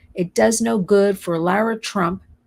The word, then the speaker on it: Lara: I'm sorry, it does no good for Lara Trump, I call her Lara because that's the way it's spelled, to go to the border a couple of days ago, stand there for a visual.